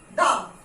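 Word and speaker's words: dumb: Climb, क्रम, lamb, थम, डम, तो यहां पे हम प्रोनाउंस क्या करते हैं? ये बी वर्ड नहीं होता है. ओके, क्लाइम, क्रम, लैम, थम, डम. गॉट इट? बी इज not pronounce, B is silent.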